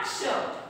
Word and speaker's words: क्ष: वर्ण बनता है, देखो क प्लस श बोल के देखो आप, क श यानी कि कैसा उच्चारण निकलता है अपना, क्ष।